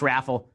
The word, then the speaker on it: Raffel: Again, Josh Raffel, I think it's pronounced Urfel, is a press aide whose initial portfolio is primarily focused on Kushner and Ivanka.